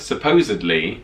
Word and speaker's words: supposedly: So so apparently, instead of supposedly, Americans say supposedly with a B, and I feel like I've heard it before.